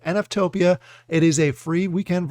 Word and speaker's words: NFTOPIA: yes I think I finally said it right NF Topia it is a free weekend virtual event that